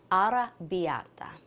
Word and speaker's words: arrabbiata: It's called Ara Biata. You got to roll the R with those two Rs. Practice it a couple of times and you'll get it.